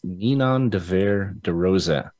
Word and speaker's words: Ninon de Vere de Rosa: I'm very excited about my guests today, Miss Ninon de Vere de Rosa. Ninon, thanks for being here. Oh, it's a pleasure. And I love how you pronounce my name absolutely correctly.